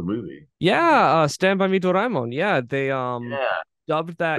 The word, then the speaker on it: Doraemon: Yeah, but Dragon Ball was a long, long time ago, and the Blue Cat one, which you pronounced wrong, was a Yeah, Doraemon.